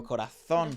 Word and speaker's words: Corazón: Pronounce that Z like he was from Madrid, bro. Corazón.